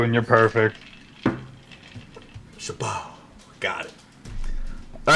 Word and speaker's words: Chabot: It it's Chabot. The T is silent.